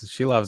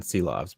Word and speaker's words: Silovs: It's written Silovs, but it's pronounced Shilovs.